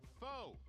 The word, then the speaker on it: Foe: me multiple times that I got his name wrong last week. So thank you for that. I kept saying Pho because I had soup on the mind.